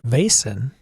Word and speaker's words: Vaesen: I've been told Vaesen, pronounced Vaesen. Vaesen. Oh, it is Vaesen.